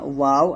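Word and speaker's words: واو: তারপর হচ্ছে মিম বা ওয়াও। আগে বলছি ওয়াও দুই ঠোঁট গোল করিয়া বা দুই ঠোঁটের ভিজা জায়গা হইতে, মিম দুই ঠোঁটের শুকনো জায়গা হইতে উচ্চারিত হয়।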